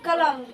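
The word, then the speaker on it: column: जी एस T might हो गया जी H silent अगला देखो अब बताओ अ कलम कभी पढ़ेंगे एन को ना पढ़ेंगे एन को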